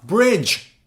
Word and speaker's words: bridge: should read it knock oh look at this one Bridge D silence why isn't it no it's Bridge D silent there are many words